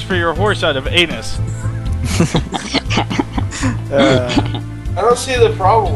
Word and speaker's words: Aenus: Oh, at least it's walking on anuses. It is. Well, in fact, walking on anuses. Alright, I'll grant you, pulling. It's actually pronounced anus.